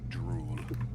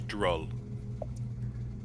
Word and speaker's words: Droll: Like walking away from my name is not Drool. Oh, how do you pronounce it? How did what did I say? You said Drool. Ah, it is Droll. Droll.